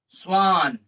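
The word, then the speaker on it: Schwann: ये स्वान में double N है तो है, लेकिन इसका हम लोग शॉर्ट प्रोनाउंसिएशन करते हैं।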